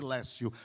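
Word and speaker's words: lectio: no latim Lécio Divina que se escreve letio porém pronuncia-se Lécio Lécio Divina quer dizer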